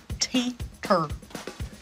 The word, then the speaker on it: Teeter: Teeter.